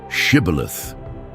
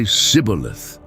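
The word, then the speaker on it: shibboleth: Say the word shibilith. But the Ephraites couldn't pronounce it right. They'd say sibilith.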